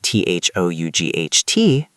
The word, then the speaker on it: thought: In the word t h o u g h t, it's a thought.